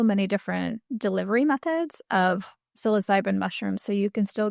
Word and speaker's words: psilocybin: So, and so why is like uh the mushrooms or is it psilocybin?